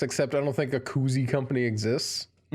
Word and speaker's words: koozie: before i realized that they weren't pronounced cozies no that's fair i think koozie is a brand term too isn't it